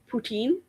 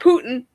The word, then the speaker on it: poutine: February we'll do some poutine, or as we would say, poutine. Depends on where you're from. But Don't say it wrong in front of thee. She'll correct you. poutine. Putin. Putin. Not Putin. Poutine.